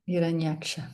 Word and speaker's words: Hiranyaksha: El señor Brahma es el primer semidios y Hiranyaksa, si se pronuncia así, sí, Hiranyaksa, Sí, Hiranyaksha.